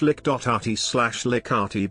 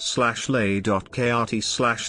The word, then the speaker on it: Likert: like at scale a like at scale slash lick.rt but commonly mispronounced slashley.krt lee krt is a